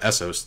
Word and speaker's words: Essos: I feel like they want her to leave so they can have Essos to themselves. And yes, I know it's pronounced Essos now and not Essos.